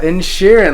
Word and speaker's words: Inisherin: Ah, Inisherin, like Ed Sheeran.